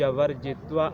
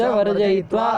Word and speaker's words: वर्जयित्वा: जी प्रत्यांत धातुम प्रत्ययम प्रत्यांतम च वर्जित दो य नहीं भाई, य बोलो तो, या वो आवाज थोड़ी निकाल करके या तो क्या बोल तो पा रहे हो दो य, तो क्यों फिर उधर अशुद्ध उच्चारण कर रहे हो?